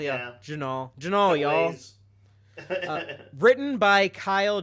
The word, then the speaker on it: Jinaal: Jinaal, yeah. Jinaal.